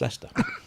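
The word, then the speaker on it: Leicester: to write leester I I always say it ftic liester then I know that it's Le i c s t e r but it's just leester yeah because we love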